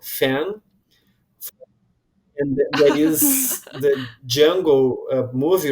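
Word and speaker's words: Django: presenting himself he say my name is Jungle the D is silent and I always wanted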